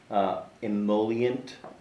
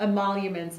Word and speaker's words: emoluments: So can you explain a little bit more about the emollient? How do you say that? Emoluments.